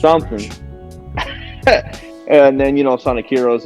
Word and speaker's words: Rouge: Shadow the Hedgehog and Roach the Bat, Rogue, Rouge. and I think it's pronounced Rouge.